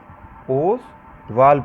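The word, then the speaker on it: Ostwald: ओसवाल्ड process, ओसवाल्ड process, T silent होता है।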